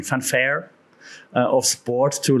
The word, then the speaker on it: Fanfare: use this this Feelgood Fanfare that's that's was the German pronunciation Fanfare of sport to like